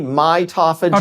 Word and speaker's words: mitophagy: So autophagy, mitophagy.